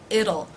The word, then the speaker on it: it'll: soon it will it'll it'll notice the T is pronounced here as a flap T the D sound it'll it'll be okay